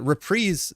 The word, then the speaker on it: reprise: but repre like so repre is the way that you pronounce it when it comes to music like a musical repre is like The Encore the repeat the Koda and that's generally in music referred to repre and I'm assuming it's